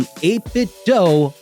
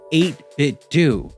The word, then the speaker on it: 8BitDo: I've heard people call this company 8-Bit Do a bunch, and I'm sure many of you do too. But I call them 8-Bit Do because a few years